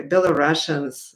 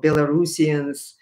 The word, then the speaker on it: Belarusians: maldavians and um or moldovans maybe should say bill of russians or belarusians you know in current correct pronunciation uh i mean there are so many